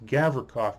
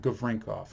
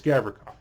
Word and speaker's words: Gavrikov: now it's trying to there's no n in that name it's gavrikoff not gavrinkoff i don't know why i kept saying good rinkoff but it's gavrikov so vladisov gavrinka gavrikov gavrikov